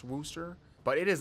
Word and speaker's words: Worcester: can't stand them and yes I know it's pronounced Worcester but it is not even close to being